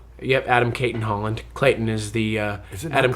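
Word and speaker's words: Adam Cayton-Holland: I got Adam Clayton Holland. Yep. Adam Caitton Holland. Clayton is the uh Adam Clayton is the YouTube guy, but it's Kaitton Holland.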